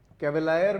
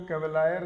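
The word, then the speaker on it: cavalier: कैवेलायर भी बोलते हैं लोग इसको, कैवेलियर भी बोल सकते हो, कैवेलायर, कैवेलियर, लेकिन कैवेलियर इसका सही प्रोनाउंसिएशन रहेगा, कैवेलियर, ठीक है। कैवेलायर मत कर देना।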